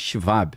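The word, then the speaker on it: Schwab: People say "shab," but in German it's "shivab." Right? Claudio Fab. Because the letter W sounds like V, right?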